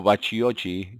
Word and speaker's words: Bacchiocchi: Por Samuel Bacchiocchi o Bacciochi, si quiere una pronunciación más italiana.